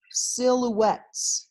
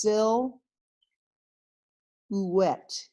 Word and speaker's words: silhouette: we're gonna talk about silhouettes yes that word up there is pronounced SIL wet the H is silent silhouette what they are